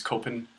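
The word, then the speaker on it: Köppen: in in North America we're just going to hear it pronounced as copen I don't know I don't speak German so I don't know the actual native pronunciation but the textbook has this note about it being pronounced with as if k r without the r so I don't know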